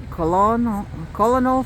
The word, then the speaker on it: colonel: It is Hans Christian Heg, Colonel 15, Colonel? Colonel. It's pronounced colonel in military rank.